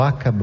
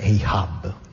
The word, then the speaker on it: Ahab: Dico Ahab perché tutti i nomi del Moby Dick secondo me vanno pronunciati come cavolo ti pare. Voi pensate che Ahab dovrebbe essere Ahab, ma da Pavese in poi noi italiani per noi è Ahab, ci Ahabimo, no?